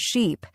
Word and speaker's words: sheep: For example, words like ship and sheep. Many learners pronounce them the same, but ship has a short I sound, while sheep has a long I sound.